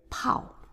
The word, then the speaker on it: 炮: So it's, this one is pao. And this character, bao. Next character, 热热热热 So R is pronouncing as r, r.And then E is 热热热